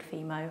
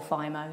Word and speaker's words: Fimo: I use a polymer, which is actually a children's clay, coloured children's clay called Fimo, or Fimo, depends how you want to pronounce it, which is ideal.